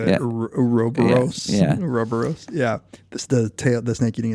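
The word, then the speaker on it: ouroboros: loop of creating himself, and so it becomes Uroburo. What's that? Uroburo? I never know how to say it. Uroboros.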